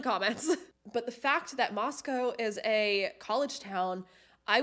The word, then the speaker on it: Moscow: there's a lot of creepy shit happening in Moscow. And I'm gonna say Moscow because I've got a bunch of comments that I'm pronouncing it wrong, which I'm thinking of like Moscow, Russia.